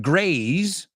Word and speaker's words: graze: The second word, graze, ¿ves? Ya el A es un poco más extendido y la S se convierte en una Z. Zzz, no digo Z vuestra, Z nuestra. Graze.